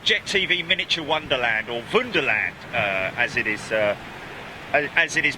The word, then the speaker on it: Wunderland: But check it out, Big Jet TV Miniature Wonderland, or Wunderland, as it is pronounced, and spelt Wunderland.